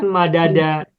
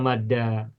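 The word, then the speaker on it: مدّ: Sehingga tidak kita temukan madada, yang kita temukan adalah madda. Atau sering-seringnya menggunakan sabdu atau syiddah, madda.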